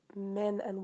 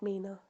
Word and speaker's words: Mena: I'm sure Simon will nudge you in the right direction, but a heads up that my name is pronounced Mena, as in men and women. Mena, not Mina. Mena.